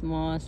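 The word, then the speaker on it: ماست: you know they'll shout which means milk cheese moss moss is yogurt Moss it's actually m-a-s-t most but we don't pronounce the tea we just say Moss um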